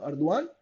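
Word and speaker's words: Erdoğan: अर्दवान इनका pronunciation होता है।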